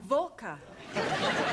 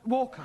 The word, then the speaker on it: Walker: drivers at Mrs Walker Walker what w is pronounced your employer's name is Walker yeah volca do you know how many shirts Mrs Volker made me iron last